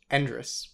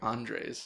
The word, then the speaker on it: Endres: say your last name andrus andrus yes i was always thinking it was like andres yeah everybody does that it's just it's almost entirely phonetic and dress like technically